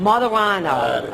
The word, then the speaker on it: Martorano: How do you pronounce Martorano. it? Martorano.